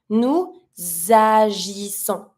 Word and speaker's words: nous agissons: starts with a vowel, I'm always going to try to link my pronoun with my verb. So I'm going to be pronouncing the S from nous to link it to the A with agissons.